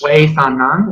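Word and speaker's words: seuthanan: This is pronounced Sveithanan, it's spelled S-E-U-T-H-A-N-A-N.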